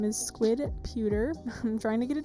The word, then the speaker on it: squidputer: My gallery name is squidputer. I'm trying to get it changed. But it's squid, like it's spelled here, and then P-U-T-E-R, which is, again,